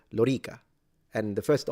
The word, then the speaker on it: Lorica: Just like Romanum, the O is long, or Lorica, the O and the E are both long. As an Italian, I would say Lorica.